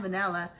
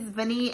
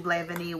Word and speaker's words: vanille: So next we have Atelier, and this is a vanille incense, vanille, is that how you say it? It's not vanilla. I think it's vanille incense.